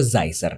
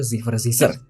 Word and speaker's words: Zicer: Jujur saya pribadi tidak tahu kalau ternyata baca itu Zizer. Aku selama ini kayak manggil nama Z itu zer zizer gitu loh. Aku enggak tahu ternyata bacanya Zizer.